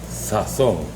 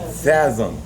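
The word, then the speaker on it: sazón: Actually pronounced sazon, but some people call it sazon.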